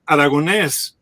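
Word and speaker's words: Aragonés: mr prayers too and i keep telling them aragones that's how we pronounce it in spanish but aragones doesn't sound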